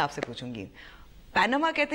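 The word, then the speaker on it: Panama: नजर आ रहे हैं, मगर लोग उसको प्रोनाउंस जैसे करते हैं, जैसे पैनामा और पानामा। या देखो, है तो पैनामा, ठीक है। आप उसको पनामा कहें, आप उसको पाना कहें, फ़र्क तो कोई नहीं पड़ता है ना सर।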